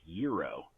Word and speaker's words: gyro: I'm gonna have a gyro and somebody I'm with says well you know it's actually pronounced Euro that bothers me save